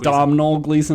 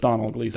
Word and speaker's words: Domhnall Gleeson: Yeah, it's just Donald, even though there's an M. Okay, it's not Domhnall Gleeson, it's just Donald Gleeson.